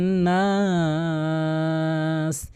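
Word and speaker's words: النَّاسِ: অধিকাংশ মালিকিন নাস, নাস এই যেখানে নাস বলে, এখানে টেনে পড়ে না, এখানে অবশ্যই টানতে হবে। নাস টেনে পড়লে যার অর্থ দাঁড়ায় মানুষ, আর এর টেনে যদি না পড়ে এর বিপরীত অর্থ দাঁড়াবে।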